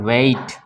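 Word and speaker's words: weight: उसी तरह हाँ यहाँ पे वेट, ठीक है ना, यहाँ पे माइट, ठीक है, तो जीएच यहाँ भी साइलेंट है और इसको क्या पढ़ेंगे माइट, आई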